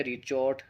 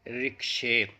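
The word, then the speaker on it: ricochet: ही टेढ़ी खीर हो, लेकिन जब हम इसका सही प्रोनाउंसिएशन देखते हैं तो बड़ा ही सिंपल नज़र आता है, और वो होता है रिक्शे। यानी हम जो प्रोनाउंस कर रहे थे वो कहीं भी इसके आसपास नहीं था। ध्यान रखें, इसे पढ़ते हैं रिक्शे, यानी टप्पा खाना।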